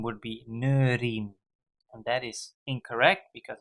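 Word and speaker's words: neuriën: So there's a trema on the E, and that is because if you wouldn't have the trema, then the pronunciation would be neurien.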